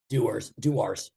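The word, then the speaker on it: Dewar's: I thought it's how do you pronounce it? Is Duar? It's alcohol. It's Duars.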